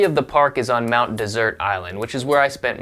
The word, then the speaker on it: Mount Desert Island: The island is pronounced like dessert, even though it is spelled like desert.